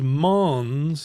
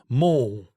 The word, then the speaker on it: Mons: But let me ask you: is Mons the correct pronunciation? It seems like it should be Mons. Yeah, in French, because this is in the Walloon, the French-speaking part of Belgium.